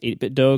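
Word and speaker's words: 8BitDo: the chat are saying it's pronounced 8bit do cuz it rhymes with Nintendo which I guess makes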